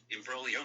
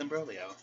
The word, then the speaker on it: imbroglio: down i've learned that in italian they got silent g's girl i'm like a silent g what hey siri define embrolio let's see if i pronounced it right imbroglio means an extremely confused